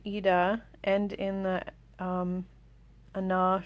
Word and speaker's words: Ajna: end in the um ana chakra i think that's how you pronounce it it's a g-n-a these two currents of